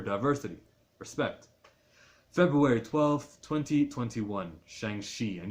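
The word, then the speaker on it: Shang-Chi: respect February 12 2021 Shang XI and you pronounce it she somewhere between a chill and a show in the legend of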